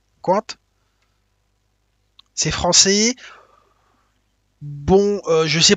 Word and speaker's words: Qwant: Donc il y a DuckDuckGo, j'ai pas besoin de vous le dire, mais l'autre il s'écrit bizarrement là. Il s'écrit QWANT, Quant.